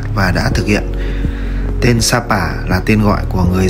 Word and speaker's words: Sa Pả: nghĩa là bãi cát người Pháp viết tên là chapa vì âm S phát âm cứng phát âm gần gần như chữ trờ trong tiếng Pháp và s trong tiếng Việt chuẩn Dấu tích này còn